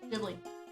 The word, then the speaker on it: Ghibli: like done in Ghibli. It's done in a what's it called? Glow in the dark. Studio Ghibli. Ghibli. Ghibli.